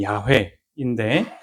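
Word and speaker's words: 야훼: 예, 일단은 야회 사실 정확한 발음은 야회인데 어이 유대인들이 너무도 거룩한 이름이어서 금지했어요.이 말을 하지 않도록.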